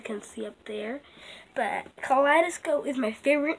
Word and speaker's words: Kaleidoscope: You can't like pronounce the D a lot good, like Kaleidoscope. Yeah, like that.